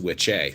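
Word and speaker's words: wicce: is again that's fine there's also a female word which has an e on the end w-i-c-c-e so it's which a so which in which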